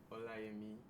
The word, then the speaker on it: Olayemi: you okay yes once again my name is olami vegetarian o-l-a-y-e-m-i I know you might find it hard to pronounce so hola I mean um I am